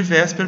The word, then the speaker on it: VSEPR: Nós chamamos de Wesper porque é uma pronúncia aproximada para essa sigla.